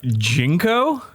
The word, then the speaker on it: JNCO: Are you talking about Jinko? Jinko? Are you saying Jenko? Maybe it's a regional thing. There's no vowels in it. How are you supposed to pronounce JNCO? Jinko.